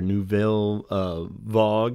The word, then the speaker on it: Nouvelle Vague: earlier ones of these Nouvelle Vague or nouvelle vogue if you want to do more proper French pronunciation which I'm still butchering I'm sure but um they're cool